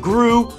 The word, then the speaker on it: Gru: have to cover and his name rhymes with poo I sit on the toilet with what yeah it's Gru and I found this